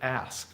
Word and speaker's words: ask: what's up with that ask what vowel is that ask it's not us it's not ask it's kind of like ask you know it